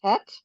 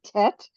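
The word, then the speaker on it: טית: okay um okay so this is the letter tet some people pronounce it te um it's the difference between the spardy um pronunciation and the ashkanazi pronunciation so in Hebrew we in Israel we say tet um and um people with a more Yiddish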